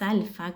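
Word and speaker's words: aleph: alfabeto hebreo, eh, es alfa, que se escribe como si fuese una X, pero con unas curvitas así. Bueno, eh, no, alfa, no, perdón, alf. En hebreo es ALF, en griego es alfa.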